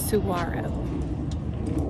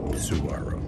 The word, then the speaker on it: Saguaro: It's Saguaro. Saguaro.